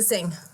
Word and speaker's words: Singh: last name how do you say that oh Sing Sing yeah just sing okay so on December